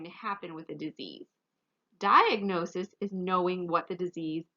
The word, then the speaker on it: diagnosis: get completely better diagnosis diagnosis again here we do say the g so you're probably thinking